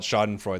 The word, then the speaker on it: Schadenfreude: stream and we over here we call it schadenfreude that's our that's our Pokemon name for it